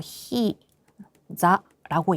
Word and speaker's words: 膝: 그랬더니 3週間くらい前に転んだんですが 이거 히자라고 읽습니다.